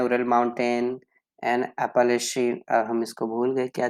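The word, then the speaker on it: Appalachian: यहाँ पे ये आपका फोनेटिक्स में है, आ पू ले शेन, अपोलेशन, अपोलेशन, इसको हम पढ़ेंगे अपोलेशन, अपोलेशन।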